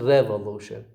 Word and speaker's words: revolution: So the first syllable begins with a secondary stress, and the third with a primary stress.